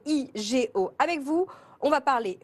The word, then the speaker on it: OUIGO: le fondateur de ouigo est-ce que je le prononce bien et ouigo et oui Go je vais l'appeler pour ceux qui nous écoutent en radio et en podcast parce que vous me demandez souvent de le faire c'est ewigo avec vous on va